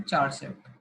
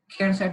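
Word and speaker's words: charset: फिर लिखते हैं हम चार सेट, खेर सेट भी बोल सकते हो उसको कुछ भी प्रोनाउंस कर लो, आपका मन है।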